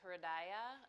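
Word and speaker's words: हृदय: The word for heart in Sanskrit is hridaya. It's 3 syllables, and each syllable has a meaning.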